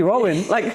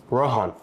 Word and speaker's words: Rohan: We're like, is his name actually Rowan? like I thought I was saying it wrong my whole life. Dude, all my brown friends would say Rohan. Yeah. Like Rohan, however you want to say the HA.